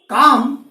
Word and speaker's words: calm: तो काम, सी के जो है, सी का उच्चारण हो रहा है के, एल का कोई उच्चारण नहीं है, एल नहीं किए, एम का उच्चारण किए, उच्चारण है एम कर दिया।